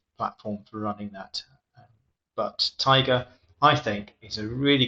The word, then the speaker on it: Taiga: Not the stripy tiger. Taiga, I think, it's a type of plant.